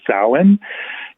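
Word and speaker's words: Samhain: s m ha a i n but it's pronounced as Sin and in Modern Irish it means Summer's end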